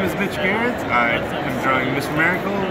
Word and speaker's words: Gerads: No, it's Gerads. Right. It's the hard G.